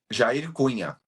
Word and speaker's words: Jair Cunha: What is the pronunciation? Jair Cunha.